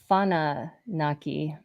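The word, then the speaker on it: Whananaki: yeah uh so that's wananaki actually they pronounce w-h-a like an f sound so it's fana naki sananki oh interesting anunnaki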